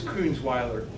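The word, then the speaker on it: Coonsweiler: what stray money about it's Coons Weiler how do you remember that it rhymes with Rottweiler what's your what's your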